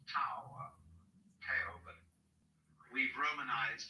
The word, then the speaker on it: Tao: We should have spelled it D-O-W, you see, but it's T-A-O.